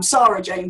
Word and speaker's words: Sara-Jayne: I'm Sara-Jayne, so it's kind of a bit...